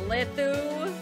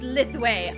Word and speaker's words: Lithu: You're, Lithu. It's pronounced Lithway.